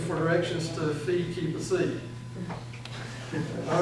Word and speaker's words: psi: phi, chi, and psi, the C is a difficult one to pronounce. Can be remembered by thinking of a town in New York, Poughkeepsie. It's a stretch, I know, but it's sort of close. Poughkeepsie.